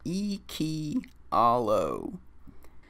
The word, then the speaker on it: Iikyallo: original character with you her name is akia allo pronounced iki hallo she's such a cutie